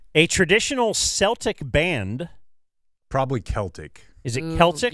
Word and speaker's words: Celtic: not coming here a traditional Celtic band probably Celtic is it Celtic y that's what it is it's written Celtic pronounced Celtic okay um I don't have the Irish lineage